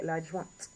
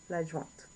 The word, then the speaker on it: adjointe: would be l'adjoint, sorry, l'adjointe, l'adjointe. Make sure you get that T, so l'adjointe.